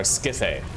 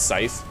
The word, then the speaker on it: scythe: Using our skithe. Can you imagine? Can you imagine if someone actually just like unironically thought that was how you pronounce scythe?